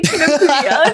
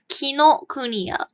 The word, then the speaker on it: Kinokuniya: Sorry, I just heard you say Kinokuniya in the weirdest way again. I don't know how to say it. So Okay, that's okay. Yeah. But yeah. What's it actually called? Kinokuniya. Kino Kuniya.